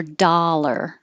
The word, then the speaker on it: dollar: so whatever you prefer same for dollar da or doll but dollar and that's different than